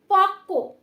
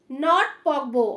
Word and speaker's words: পক্ক: দেখো পক্ক, পকবো, অনেকে এটা ভুল উচ্চারণ করবে, ঠিক আছে?